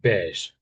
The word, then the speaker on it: beige: Uh blank beige. Yeah, that that's it really. Yes. Blank beige. So this is beige. Wait, that word there. It sounds a bit French, doesn't it? Beige.